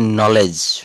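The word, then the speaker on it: knowledge: যেমন এখানে একটা শব্দে বলছে শব্দের শুরুতে কে এন থাকলে তার উচ্চারণ হবে ন দন্তন্য হবে। এক্ষেত্রে কটা এই কেটা কিন্তু অনুচ্চারিত থাকবে। কেটা এখানে অনুচ্চারিত থাকবে। যেমন, আমরা সবাই জানি, নলেজ।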